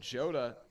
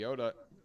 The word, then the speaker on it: Jota: that that's wild but Joda in the pit or the jota the Yoda in the pit I mean it's spelled jota but it's pronounced Yoda the Yoda for a